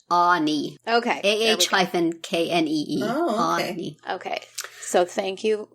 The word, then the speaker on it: Ani: according to the blog on their website it's pronounced ani ok aah - kne oh okay so thank you for checking know